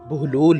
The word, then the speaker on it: بہلول: سے واقف ہوں گے۔ بہلول کی بے پر پیش اور ہے پر جزم ہے، جس کی وجہ سے اس کا اصل تلفظ بہلول ہے، جس کے معنی ہنس